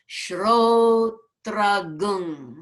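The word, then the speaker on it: श्रोत्रं: And there's a rule that says, Shrotram hridaye has to change in pronunciation to a gung. So shrotram changes to shrotragung.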